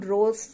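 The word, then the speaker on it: rho: ये हमारे पास क्या है, इसको हम रोज बोलते हैं, प्रोनाउंस एज रो, और ये होती है हमारी रेसिस्टिविटी।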